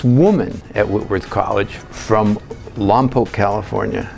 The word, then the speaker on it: Lompoc: I met this woman at Whitworth College from Lompoc, California. Not Lompoc, Lompoc, that's how they say it there.